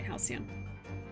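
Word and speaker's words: halcyon: remember how to say it hian helian okay hian I was right I'm afraid it's too late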